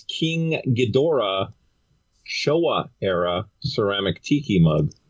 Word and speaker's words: Ghidorah: mean proper is king ghidorah but when the movie came out over here in the 60s they dropped the o so it was ghidra the three-headed monster yeah